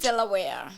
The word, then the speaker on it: Delaware: Delaware, how do you pronounce it? Delaware.